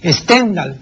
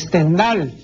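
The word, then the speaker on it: Stendhal: del célebre escritor francés la gente suele pronunciar stendal No no es stendal pues es stendal no la gente dice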